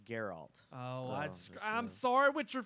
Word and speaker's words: Geralt: it I wanna see in the game it's pronounced Geralt oh I'm sorry with your fans sorry I